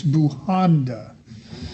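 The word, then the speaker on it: Bujanda: for mispronouncing your name it's buhanda right all right what happens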